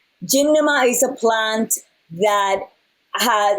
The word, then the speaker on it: gymnema: it's filled with mma but it's gem now ma gymnama is a plant that